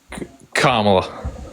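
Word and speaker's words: Kamala: think it's a good reason I vote for Camel either I was just I was Playing devil's as to what you said her name is kamla Harris kamla there you go pronounce it right buddy so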